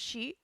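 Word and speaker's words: 四: The number four is pronounced she the same as the word for death and is considered very unlui, the creator of the suki cats.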